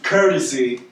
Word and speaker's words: Kertasy: weak to me but again my name is courtesy every I'm the only courtesy in a world I'm the only way you spell it ke r ta sy it's gonna be